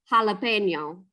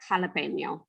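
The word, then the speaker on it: jalapeño: So the J's turn to the H sound like jalapeno. They don't turn to it, they just are in Spanish. Ha.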